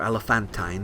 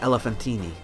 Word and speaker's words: Elephantine: a silent E, or Elephantine if you're a Brit, and Elephantine. The name is Greek, and the ancient Greeks called it Elephantine, so I prefer to pronounce the final vowel.